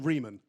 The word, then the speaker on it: Riemann: Riemann.